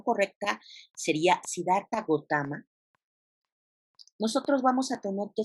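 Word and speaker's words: Siddhartha Gautama: fundados siddharta gautama bogotá más de hecho la pronunciación correcta sería siddharta gautama nosotros vamos a tener que sedar para votar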